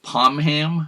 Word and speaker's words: Pomham: And by the way, there's some debate over whether it's pronounced Pomham or Pomham. I'm going with Pomham, which seems to be a more traditional pronunciation, and you'll hear some